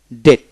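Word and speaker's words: debt: যেমন বি টি ডেট, ডিই টি ডেট, বি উচ্চারণ হবে না, ডেট মানে রেন।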